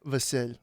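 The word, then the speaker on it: Vasyl: Vasil. It's like a It's Basil but in Ukrainian. Vasid. V Y L. V A S Y L. Vasil. Yeah. But why is it basil?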